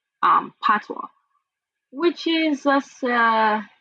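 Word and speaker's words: patois: right so it's it's called the it's called pwa it's spelled p p a t o i s but it's pronounced pwa so you know Jamaicans still speak English but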